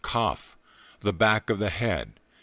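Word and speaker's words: qoph: in symbolism 100 has the letter q o pH pronounced cough the back of the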